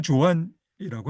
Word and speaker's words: Joan: 스페인어로 후한으로 발음해야 되는데 카탈루냐니아어로는 조안이라고 합니다. 바르셀로나 변두리 노동계층에서 태어난 조한 마누엘 세라테 아버지는 어 프랑코의 국민파와 맞서 싸웠던 공화파의 전사였고요.